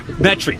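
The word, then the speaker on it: Metairie: Metry.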